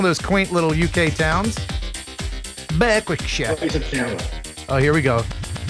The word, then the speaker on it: Berwickshire: Berwickshire.